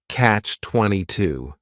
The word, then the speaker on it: catch-22: The word catch is just 1 syllable, and then 22 is 3 syllables, and the stress is on that final syllable, catch-22.